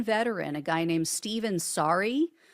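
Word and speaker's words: Saari: a guy named Stephen Saarai, I think that's how you pronounce it. It's s a a r i, he was held without charges for 6 hours and they denied him access to an attorney.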